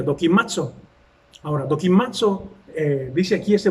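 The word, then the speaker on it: δοκιμάζω: Lo tengo aquí anotado para que no se me olvide cómo se pronuncia, dokimazo.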